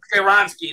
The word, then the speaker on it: Skoronski: Skoronski, there you go. Yeah, is the correct pronunciation there.